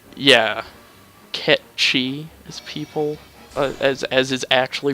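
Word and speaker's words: Cait Sith: 13, who's just like a magic dog, and Kate Sif, right? yeah, Ketchi is people, as is actually pronounced, by the way.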